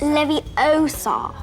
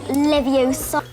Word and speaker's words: Leviosa: of Hermione Granger besides you're saying it wrong it's Leviosa not Leviosa and we're going to